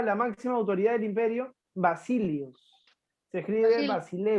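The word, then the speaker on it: basileus: domina se denominaba la máxima autoridad del imperio vasilios se escribe del mar cine bus basile basile escribe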